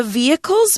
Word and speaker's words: vehicle: For example, we could say, the vehicles moved down the street slowly as they were stuck in traffic. OK，我们在这边呢看到第一个单字 vehicle，这里呢文章指的是车辆啊、交通工具，尤其是这个路上交通工具啊。顺便注意一下发音哦，vehicle 这里的 h 是不发音的 vehicle。That's why Aaron mentioned car, truck, and bus.